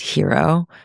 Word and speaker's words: HIRO: And I want everyone listening to support hero and what we're creating here, H I R O, pronounced hero.